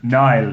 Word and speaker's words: Niall: or it's Niall, not Neil, as many people get it incorrect.